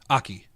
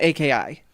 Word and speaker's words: Aki: Aki. So it wasn't AKI. Well, it's AKI Aki. That's how it's spelled, but it's pronounced... It's actually said as Aki?